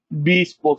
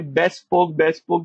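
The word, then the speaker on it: bespoke: बी-स्पोक software. ठीक है, इसको लोग आप देखेंगे बेस्ट स्पोक भी पढ़ते हैं। पढ़ने का खैर कोई मसला नहीं है, लेकिन वैसे इसकी करेक्ट प्रोनाउंसिएशन यही है।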